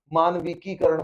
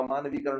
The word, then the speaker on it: मानवीकरण: बहुत सारे लोग इसका प्रोनाउंसिएशन ही गलत करते हैं, मानविकीकरण बोलते हैं। मानविकीकरण नहीं होता, मानवीकरण होता है।